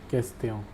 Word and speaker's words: question: The pronunciation is question.